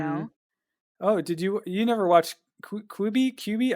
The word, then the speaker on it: Quibi: I can't remember how you Oh, pronounce it now. Quibi? Or Quibi. no, I think it's supposed to be I think it's an abbreviation for quick bites. So Quibi, right?